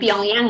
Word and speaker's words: Pyongyang: young young kue pilihan young young young yang bacanya Pyongyang Iya Yong Yong Belgia Bapak Ibu LG Belgium